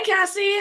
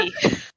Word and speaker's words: Casey: Hi, Cassie. How are you? Good, and I won't judge you for saying my name wrong, but that's okay. Did I? No, it's God. Casey.